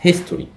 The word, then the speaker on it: history: هنا عندنا history، history برضو حرف ال H لكن ال H هنا منطوقه، انا بسمعها صح، سامع history H صح، فبنقول the history.